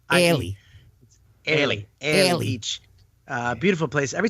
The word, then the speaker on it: Airlie: And it's so hard for Americans to say, not say Arlie, but it's spelled A-I-R. Yeah. So it's A-I-R-I-L. Airlie.